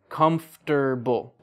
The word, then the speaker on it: comfortable: Or like comfortable. That's how it's spelled. But native English speakers, we say comfortable.